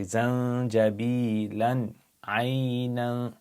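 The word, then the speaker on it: زنجبيلًا عينًا: Now if you were to join zanjabila to ayn, you have a tanween and you have an ayn, you're going to pronounce it clearly like izhar. So you say zanjabilan aynan.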